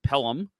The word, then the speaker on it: Pelham: So you have to travel to, I believe it's pronounced Pelham, in Alabama.